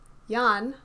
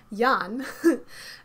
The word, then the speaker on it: Jan: we get confirmation that jan who is jay's character and yes i did mispronounce his name last episode sorry yan does have a lot